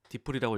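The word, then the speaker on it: DeepL: 자, 세 번째 추천하고 싶은 거는 딥L인데요. 딥플이라고 읽기도 하고 이게 그 최근에 많이 유명해진 번역기인데 되게 좋아요.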